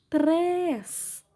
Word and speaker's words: três: Três. Sílaba mais forte é o três, som fechado, acento circunflexo.